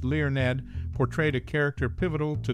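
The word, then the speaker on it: Learned: learn among its cast learn whose surname is pronounced Leon Ned portrayed a character pivotal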